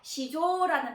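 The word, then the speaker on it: 市場: 자, 음독으로 읽었을 때는 시, 그 다음에 또 음독으로 읽어서 조 하고 발음을 해서요. 시조라는 단어가 있습니다.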